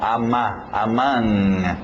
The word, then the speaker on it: among: Aí o O, mesmo som, among, among, aquele NG no nariz, among.